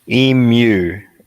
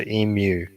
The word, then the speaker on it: emu: with that breed emu so the m goes into the u when you say it so e mu mu like you say it m e w e mu that's how you spell it the m-e-w no it's spelled e-m-u but americans say emu but it's it's actually e-mu oh i'm seeing it